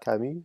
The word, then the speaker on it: Camus: Albert Camus, I'll pronounce it correctly.